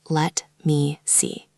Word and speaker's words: let me see: It is not let me see. It flows together. Let me see. Let me see. Good. The T in let almost disappears.